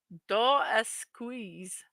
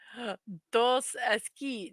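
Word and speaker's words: Dos Equis: Dos Esqui. Do Aquí. It's a Mexican beer. Yes, the S is silent.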